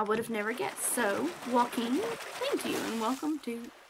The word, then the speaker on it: Joaquin: i'm so glad that here it's pronounced joaquin well i completely blew that